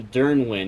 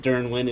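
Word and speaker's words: Dyrnwyn: thinking about is the Dernwin. Now, I've I've struggled to find a way to pronounce it. I think Dernwin is how to pronounce it.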